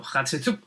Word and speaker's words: Hatshepsut: aquí mucho mejor hatshepsut que si lo pronuncia es muy rápido parece que estás escupiendo hatshepsut de todos estos